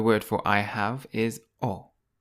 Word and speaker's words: ho: In Italian, the word for I have is O. O. You don't pronounce the letter H in Italian.